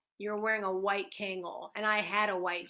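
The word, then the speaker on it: Kangol: ever met that that pronounces the l in kangal everybody everybody i knew it's called a kango yeah really wait don't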